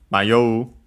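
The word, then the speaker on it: 迷う: And then we have Mayoi which comes from uh Mayo. Want to check its accent. Uh okay. No actually accent. So low high low.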